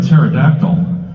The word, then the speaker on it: pterodactyl: can never hear a pterodactyl going to the bathroom have you ever wondered that yeah I had to look it up had to look it up turns out it's because the p is silent yes the p is